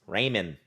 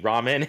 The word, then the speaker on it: ramen: __ ] ramen noodles ramen noodles raymond it's ramen noodles yeah everybody loves raymond